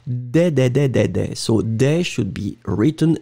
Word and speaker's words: des: If it was the masculine, I would pronounce de. But in that case, it was clearly des.